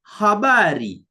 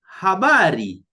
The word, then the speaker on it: habari: The sixth is H, which in Swahili is pronounced as her, as in heart. An example is the Swahili word or the Swahili name for a condition. We say hali, hali. Or when you are saying hi to someone, you say habari, habari, okay? Habari, ha, H, then A, ha, habari, okay?